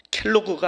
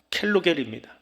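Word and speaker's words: קלקל: 히브리어로 켈로그가 아니고요, 켈로겔입니다. 좀 기억하시라고 그냥 상품 하나 얘기한 거예요. 켈로그는 뭔지 아시죠? 발음이 비슷해요. 켈로겔이에요. 그게 가치 없다라고 하는 거예요.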